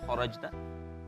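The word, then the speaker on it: خَرَجْتَ: Jadi kha-nya tadi fathahnya kurang terbuka. Wa min haitsu kha buka. Kharajta.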